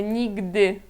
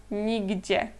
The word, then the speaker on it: nigdy: como aqui a segunda, é nigdy, e não nigdzie, tá?